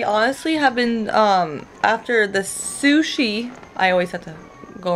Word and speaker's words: sushi: I always want to say shushy, but sushi.